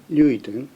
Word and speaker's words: Ruiten: O sobrenome Ruiten, de origem holandesa, pronuncia-se Ruiten, e o marido dela